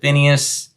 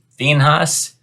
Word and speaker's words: Phinehas: We pronounce it Phineas. I think the more proper pronunciation is Phinehas.